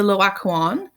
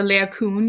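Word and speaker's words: Laocoön: They often have these really interesting stories behind them, which leads us to this piece here, the Loakuan, and or the Laocoon, you may also hear it pronounced.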